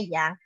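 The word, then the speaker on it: 羊: Sound the sheep, kambing atau domba dalam bahasa Mandarin bacanya yang.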